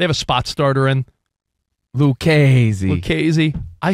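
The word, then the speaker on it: Lucchesi: It's pronounced Lucchese, by the way, Monsi. I heard you say Lucchese or Lucchese.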